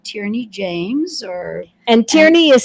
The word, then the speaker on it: Tierney: or they can just put in my name tyrany James or and tyy is spelled t i e r NY for those